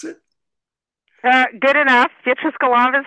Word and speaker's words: Beatrice Golomb: that how we pronounce it uh good enough beatric Golam is how I pronounce it that it's you know names are